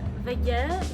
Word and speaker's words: WG: Well, I live in Vege, so Vege, yes.